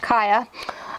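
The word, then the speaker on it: Kaya: living room was super fun yeah yeah properly pronounced kiyah I got her for my good report card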